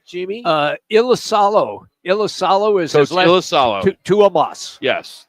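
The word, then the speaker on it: Iisalo: And we will start with the Memphis head coach, and his name is pronounced how, Jamie? Uh, Io. Ilisalo is Ilisalo.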